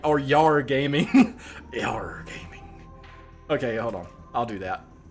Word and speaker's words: Jar: Yeah, so it's pronounced in here, Yar. But, I mean, in like, simple, like, fucking... English terms, but if you want to like roll the R's and say with an accent, it's different.